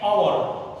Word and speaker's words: hour: That same way, N hour. Here also H is a silent letter, so whenever just we pronounce the spelling at that time, we never used to pronounce this H.